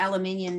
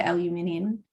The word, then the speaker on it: aluminium: So well, one there, you've got aluminium is used in, and you say aluminum. Is that how Americans pronounce it? Aluminum. Yeah, we say aluminium.